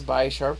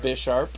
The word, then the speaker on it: Bisharp: And then, I always pronounce this Bisharp, but it's actually pronounced Bisharp. Because he's a bishop. Because he's a bishop, so it's and also... And he's also sharp.